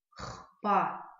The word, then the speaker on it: хпа: Слово «хпа», видите, как бы может показаться, что читать надо «хпа». Но в абазинских словах чаще всего мы букву «х» читаем в ее звонком варианте.